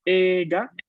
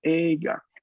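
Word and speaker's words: えいが: Así que es correcto a nivel de regla pronunciar esta palabra ega con una E larga, pero van a encontrar personas que la van a pronunciar ega, con ahí una I sutil, así muy hablada, pronunciada a mitad, ¿no? Ega, ¿no?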